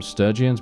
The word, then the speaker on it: Sturgians: I actually call them Sturgians, but I believe the official pronunciation for them is Sturgians. But for some reason, I always call them Sturgians, so I just stick with that.